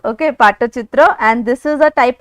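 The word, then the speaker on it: Pattachitra: it's like p-a-t-t-a but then it's how it's pronounced okay Pata chitra and this is a type of painting which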